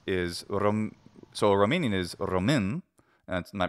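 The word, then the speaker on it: Român: Romanians is, so a Romanian is Romin, and my pronunciation is not great, but it's R-O-M-A with a hat on it and then N. Looks like Roman, but it's Romin.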